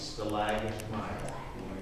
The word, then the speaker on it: stalagmite: And a lot of people will pronounce them with both with a G, but it is stalac on the top and stalag on the bottom.